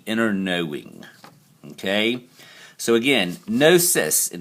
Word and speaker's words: gnosis: knowing okay so again gnosis and it's pronounced no cis forget the g but that's just the way they do it a knowledge of spiritual